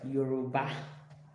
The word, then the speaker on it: Yoruba: Yeah, I'm African, let me pronounce it right. Yoruba.